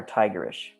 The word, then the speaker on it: tigerish: Once I add that, it might be a bit more tigerish. That's a word, look it up. Tigerish. Rhymes with licorice.